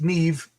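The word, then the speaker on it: Niamh: Pronounced Neve, pronounced Maeve.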